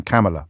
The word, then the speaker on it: Kamala: James, please remember that the Vice President pronounces her name Kamala, like Pamela or Camelot.